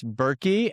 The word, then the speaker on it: Berky: Uh that's Berky. And there is a silent H in the middle.